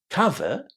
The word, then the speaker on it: cover: And actually the word cover that discover comes from is also going to be pronounced with a short a cover.